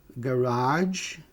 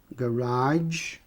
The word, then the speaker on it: garage: Eu posso falar garage, garage, garage, né?